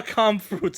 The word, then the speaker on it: Kampfkunst: How do you spell Kampfkunst? How do you pronounce it?